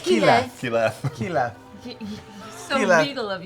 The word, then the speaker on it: Keyleth: That's how it's spelled. Keyleth.